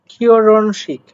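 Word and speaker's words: 결혼식: আসেন পরবর্তীতে যেটা বলছে কিওরনশিক।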